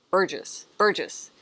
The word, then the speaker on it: Burgess: You guys know my favorite, I always want to say Burgess, but it's Burgess. Somebody told me how to pronounce it.